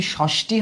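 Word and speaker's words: ষষ্ঠী: দেখো তাহলে আমরা যখন ষষ্ঠি উচ্চারণ করি কেউ কি ষষ্ঠি বলি?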